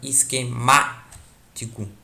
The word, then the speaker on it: esquemático: A palavra esquemático. O má é o mais forte aqui.